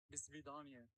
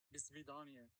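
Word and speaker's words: до свидания: pronunciation guide where in Russian it is used as a farewell greet. "Do svidaniya". Again, "Do svidaniya".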